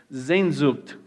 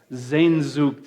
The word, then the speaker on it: Sehnsucht: I've mispronounced this so many times. People have corrected me. Sehnsucht. Can we all say that? Sehnsucht.